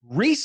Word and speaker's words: Reese: He is fighting Reese McKee, and I know it's Reese and not Rise.